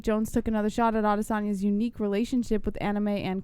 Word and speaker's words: Adesanya: Adesanya, right? That's how you really say it. Israel Adesanya.